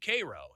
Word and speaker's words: Cairo: Spelled the same way as Cairo, but we say it here in Illinois, Cairo.